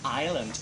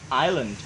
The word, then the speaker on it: Island: ว่า เรา อ่าน ว่า Island ตัว S ไม่ ออก เสียง นะ ตัว S is silent เพราะ ฉะน แล้ว ออก เสียง ตาม Island Island แล้ว ไม่ ต้อง